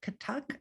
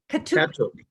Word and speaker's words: Kathak: My sister-in-law has taken up Kathak. I think I'm pronouncing that right. And Kathak, it's Kathak, Kathak. Sorry, Kathuk. She has taken up Kathuk